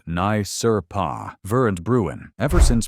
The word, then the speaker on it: NYSRPA: That dynamic should ring a very loud bell if you've been following Second Amendment litigation since NYSRPA, pronounced Nye Sur Pa, ver and Bruen.